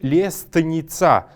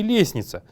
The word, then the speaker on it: лестница: Когда мы пишем их, мы записываем солнце с буквой «л» и лестница. Но когда говорим, мы произносим их как солнце и лестница.